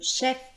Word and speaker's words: chef: Je note le mot chef.